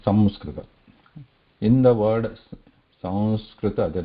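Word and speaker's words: संस्कृत: So if we pronounce it as ma, samskrita, there you can hear that ma, some, you are using those lips, some touching each other, samskrita, samskrita. But when we say Sanskrita, we are not touching the lips, right?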